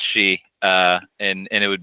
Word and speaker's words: Shi: key one yeah so it sounds like she right like the word she uh so I've been